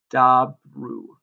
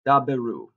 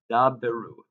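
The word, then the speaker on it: דַּבְּרוּ: form or the imperative, which is dabru. Excuse me, daberu. We pronounce that because it has the dagesh. Excuse me, daberu is going to be deber in the command form.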